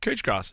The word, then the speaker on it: couch grass: as Bermuda grass yeah cooch grass it's spelled couch but it's cooch grass you said cooch what's